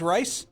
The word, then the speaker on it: Rice: R-I-C-E is Rice? Yes. No, it's Rice.